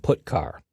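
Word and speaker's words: putchar: i o functions are git car and put car that's how i pronounce them git car fetches a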